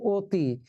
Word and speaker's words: অতি: ছেলেরা বলো এবার, তাহলে এই যে অতি আমরা লিখলাম অতি, উচ্চারণ করছি অতি, তাহলে এখানে সংবৃত হলো না বিবৃত হলো উচ্চারণ?